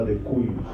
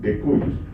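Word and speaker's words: de cujus: Él, en este caso, el difunto, o el que está dejando la herencia, se llama decuyus. Decuyus. Se escribe decubus en latín, decuyus.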